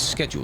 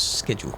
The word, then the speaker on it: schedule: No, I say it's schedule because it's like school is spelled the same way. So, it's schedule, not schedule.